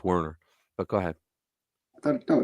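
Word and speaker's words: Wernher: Brown you really what's it's wner pronounce with the V is a as a w but go ahead wner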